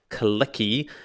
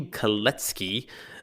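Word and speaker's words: Kalecki: In fact, it should be Kletki. That would be the proper Polish pronunciation. So apologies I guess to the late Kletky and other Polish speakers out there.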